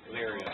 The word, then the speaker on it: Elyria: Elyria.